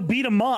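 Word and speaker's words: B-Daman: Which is Battle Be the Man. Oh, I always pronounce it Battle Be the Man. Be the Man. Because it's D-A-M-A-N. But they... I guess so. I always said Mon.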